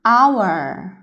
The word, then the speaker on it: hour: O가 소리가 2번 나요, 대신에. 그래서 아 소리도 한 번 내고 O가 우 소리도 한 번 내요. 그래서 그 다음에 UR이 얼 소리를 이렇게 붙이면 hour 이라는 말이 됩니다. H는 묵음이고요.